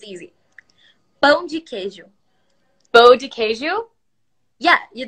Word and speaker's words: Pão de queijo: Pão de queijo.